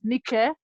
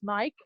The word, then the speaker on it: Nike: Well, it's been pronounced as Nike, but I pronounce it as Nike.